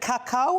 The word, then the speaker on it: cacao: Is it cacao? Is that how you say it? It's cacao.